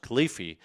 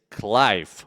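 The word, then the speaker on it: Cliffe: The name, the Yeah, second name is called, it is pronounced Cliffy.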